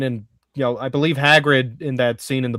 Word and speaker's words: Hagrid: And then he's and as he's vomiting up slugs in Hagrid with a hard G.